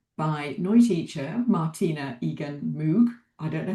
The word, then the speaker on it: Moog: I'm joined today by Noi teacher Martina Egan Moog. I don't know how to pronounce your name.